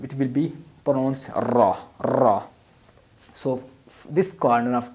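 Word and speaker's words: ر: will be pronounced raw Sora has basically three condition almost in true condition it becomes bold like Robin has Zabur our page this will be bold or raw raw when it has downsides ear it will be light like a la la so it has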